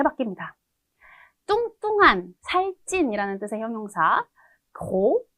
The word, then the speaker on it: gros: 뚱뚱한, 살찐이라는 뜻의 형용사 gros 해서 S 발음 없고 여성형으로 갈 때는 S 하나 더 추가해주면서 grosse 이렇게 됩니다.